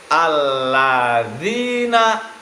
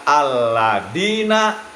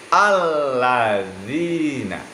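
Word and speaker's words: الَّذِينَ: Jadi jangan sampai nanti ketika kita sudah, ya, membaca ayat, di sana ada kalimat alladzina, dibacanya alladina. Jadi tidak boleh dibaca alladina, tetapi alladzina.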